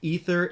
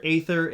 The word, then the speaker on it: Æther: All three pronunciations are apparently legitimate, ether, ÆTHER, and ÆTHER, but I have now brought some actors on board with this script.